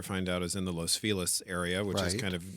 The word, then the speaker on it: Los Feliz: kind of near hollywood which is the way we say los feliz here in los angeles for reasons that i'm not sure of but you know anglicanized pronunciation i mean it's not los angeles either